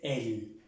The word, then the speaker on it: elle: Ella en francés, elle. Se pronuncia como se pronuncia él en español.